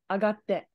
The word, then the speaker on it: 上がって: This is pronounced as 上 ue by itself. Sadly, when it's a verb, it's actually pronounced as a, agatte.